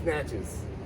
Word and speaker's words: Natchez: i got the riverboat natchez and that's how you pronounce it uh it's it's natchez i write you ain't